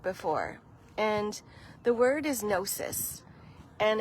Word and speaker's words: gnosis: And the word is nosis. And it's spelled g n o s i s.